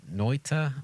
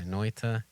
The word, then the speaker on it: Noita: I'm gonna pronounce it Noita. Yeah, that's how I would say it. Yeah, Noita.